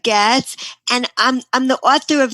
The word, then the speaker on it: Goetz: Actually, we don't pronounce the O, so it's Goetz, and I'm the author of 38 spiritual children's books that help children's souls to shine.